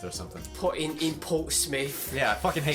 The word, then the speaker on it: Portsmouth: areas like Portsmouth or something put in in Portsmith yeah I hate foreign one of the things that I hate the most about Portsmouth is that first of all Portsmith not Portsmith